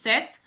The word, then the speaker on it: sept: P is silent here, which is sept, huit, neuf, dix, onze, douze, treize, quatorze.